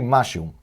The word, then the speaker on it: משהו: Então, a pronúncia, vamos dizer, correta, será Mashehu, ou mais rápido, Mashehu. Mashehu, ok? Temos mem com patach, ma, shin com segol, she, e re com shuruk. Então, hu. Mashehu.